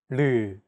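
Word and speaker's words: ㄹ: This consonant is often romanized as an R or an L, but there isn't an equivalent sound in English. 라마. This sound is actually somewhere between an L and an R sound. When pronouncing this sound, your tongue should strike the gum ridge behind your upper teeth in a quick, rapid motion.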